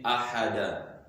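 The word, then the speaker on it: أحد: Here you are not going to say wahid, rather you are going to say ahada. So now 1 will be ahada, then 10 will be ashara. Ahada ashara, that is 11.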